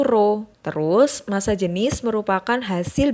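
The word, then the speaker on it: rho: tadi Kalau massa jenis disimbolkan dengan huruf P tapi enggak kayak P nah bacanya itu roh terus massa jenis merupakan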